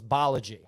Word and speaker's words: Balaji: like how to say his name, so it's Balaji.